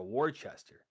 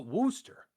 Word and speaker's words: Worcester: I says, "I'm trying to go to Warchester." And he just stared at me. And I'm like, "Isn't that what it says on the flyer?" I'm like, "Yeah, look." And I like hand him the flyer and he's like, "Oh, Worooster."